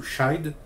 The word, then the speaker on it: chide: Je pense que ça se prononce to chide.